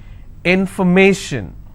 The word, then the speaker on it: information: it in foreign so where do I stress I will stress on May information if I have the